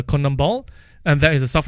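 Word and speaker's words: CONMEBOL: Central America so um I believe it's pronounced as the Kum ball and that is a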